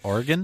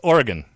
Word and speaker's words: Oregon: to talk about that a little bit later pronounce it Oregon it's Oregon Oregon yep if you say Oregon do they